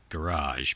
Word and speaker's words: garage: Well, first of all, I'm fascinated by how you pronounce garage, because I think that most people use 2 syllables. I think you get her done in 1. That's all it needs.